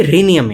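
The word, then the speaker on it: Rhenium: Tantalum के बाद symbol अगर RH है तो रेहनियम है कि रीनियम है. रेह नहीं होगा, री होगा.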